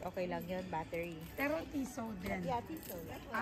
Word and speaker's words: Tissot: Ano bang pronunciation yan? Tiso. Tiso. Tiso. Ah okay. Tiso. Silent tea. Silente.